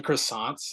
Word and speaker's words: croissant: like the what the croissants. A lot of people. It's got to be King's Hawaiian. It's pronounced Croissants. croissant. Yeah, I'm sorry, creme fraiche.